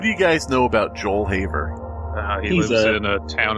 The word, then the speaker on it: Haver: for everybody listening joel j-o-e-l-haver h-a-v-e-r like you have something on how you spell it it's h a v r e joel haver like a haver like you have something um what was it